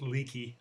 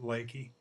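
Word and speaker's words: Leakey: If you look at it, it looks like it's leaky, but they pronounce it Lakey.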